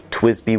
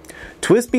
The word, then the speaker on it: TWSBI: under their own brand twizz B was born twist B is spelled TW s bi and is an acronym